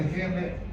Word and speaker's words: Henle: Pero si ustedes se fijan, el asa de Henle acá es delgadita y acá es gruesa.